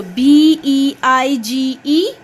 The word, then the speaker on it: beige: it is just befo when the g will come before e and i it makes the sound as j so b e i g e yes beige the sound of b the sound of e i a and the sound of g j here so it is beige